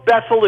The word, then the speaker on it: Bethel: it called it's called that's all it rhymes with my aunt Ethel Ethel okay I like